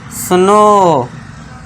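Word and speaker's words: snow: जब वर्ड के लास्ट में ओ डब्ल्यू आए तो ओ डब्ल्यू को फिर से क्या पढ़ना है आपको? ओ से पढ़ना है। तो इसे क्या पढ़ेंगे? सुनो स्लो फुलो देखिए आधा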